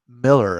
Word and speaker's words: Millar: is it Miller or malar it's pronounced Miller according to Mark Millar that is pronounced Miller